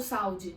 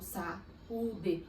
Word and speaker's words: saúde: E isso acontece com saúde, eu não falo saúde, eu falo saúde. O U, nesse caso, é especial. Ele fala, peraí que eu quero uma sílaba só pra mim. E aí eu tenho um hiato.